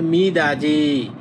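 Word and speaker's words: 미닫이: তাহলে সেম একইভাবে হবে মিদাজি। মিদাজি মানে স্লাইডিং করা দরজা। এখন এটা আমরা উচ্চারণ করি খাছি মানে একসাথে।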